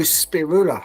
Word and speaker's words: Spiroula: hello spirula how are you hello good how are you very good very good now in I'm pronouncing your name exactly as it's spelled and correctly yes very that's very correct yes so yeah thank